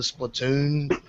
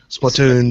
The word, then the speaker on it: Splatoon: i haven't seen the splatoon like trailers like i'm saying it wrong i know splatoon but no it's splatoon watch it why like